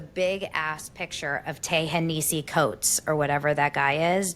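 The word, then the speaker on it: Coates: Tahesi coats.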